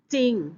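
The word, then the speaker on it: จริง: อ ก เ สี ย ง ว่ า จ ริ ง ไ ม่ ใ ช่ จ ริ ง น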